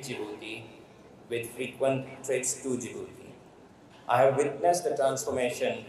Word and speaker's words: Djibouti: I used to call it Djibouti so the pronunciation is jouti and not Djibouti so that is the time I first went